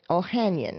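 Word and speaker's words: Ohanian: Um, Alexis Ohan Ohanion, I believe is how you pronounce his name.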